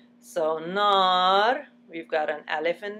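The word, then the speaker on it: نار: For example, nar, nar. Nar, nar, we open our mouth like there's a double A, and the alif is actually attached to the letter in front of it.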